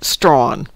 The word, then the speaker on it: Strahan: WC says Tasmania has a town called Strahan, pronounced Strawn.